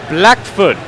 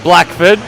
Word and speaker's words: Blackfoot: Blackfoot. Alright? Not Blackford.